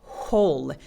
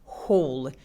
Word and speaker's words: whole: whole. 그래서 W가 없는 듯이 그냥 그 구멍하고 똑같은 발음입니다. 해볼게요. whole.